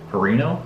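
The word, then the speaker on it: Pineiro: the kicker at Florida, Eddie Perino, I believe is how you say his last name.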